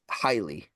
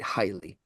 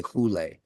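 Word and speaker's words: ὕλη: back to Neoplatonic philosophy when they said highly, right? Highly matter. A lot of people say hule, but fuck them. I hate the anglicized pronunciation of Greek words.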